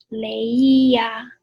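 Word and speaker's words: leía: or e-r-i-r endings so it would be yo leia with an accent on the eye when we were kids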